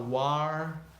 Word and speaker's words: war: I had a war the word war actually sounds like door war and or rhyme war ii-era and/or that boy did that had the same vowel in English orange corner crazy right so war is the same as door they rhyme I put the D